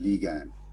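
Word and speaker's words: lagan: that's Jets some then you've got lean Lian pronounced Lian okay so it refers to Goods that are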